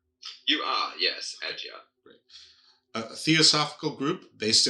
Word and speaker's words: Adyar: Am I pronouncing Adyar right? You are, yes, Adyar.